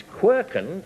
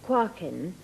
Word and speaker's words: quarkin: And it's quirken. I don't know whether I pronounce it properly. Celia. No, not quite. It's quarkin, and it's a dialect word from Northumberland, and it describes a molehill.